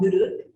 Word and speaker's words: nuruk: At the heart of this philosophy is something called nuruk, that is spelled N-U-R-U-K.